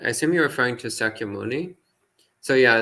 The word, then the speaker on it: Sakyamuni: you just said i assume you're referring to sakyamuni so yeah sakimuni in pali is pronounced shakyamuni in sanskrit but otherwise it's the